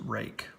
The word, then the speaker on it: Ruike: and this is the Reich ep8 oh one and before anybody says anything or writes in the comments yes I do know that they say that this is supposed to be pronounced rake but no this is